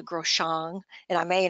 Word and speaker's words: Groshong: And I used to call it a Groshang, but it's called a Groshong.